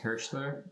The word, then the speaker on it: Hirshcler: all right so my my last name is pronounced hirschler hairstyler okay cool i am